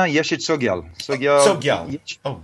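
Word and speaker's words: Yeshe Tsogyal: Do you know the pronunciation of that? Am I getting it right? Yeah, no, Yeshi Tsogyal.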